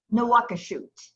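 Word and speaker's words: Nouakchott: There's a sheen in there, so Mhm. it makes the pronunciation a little different than the English. New shot or something like that, right? Nawakashut.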